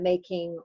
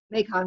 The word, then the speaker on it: Mekong: in Cambodia and Thailand on the making river so I think I said that right or did I've mispronounced Mekong River sorry so what in